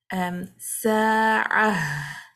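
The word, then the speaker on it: ساعة: So we need to make it clear that you pronounce the ha at the end.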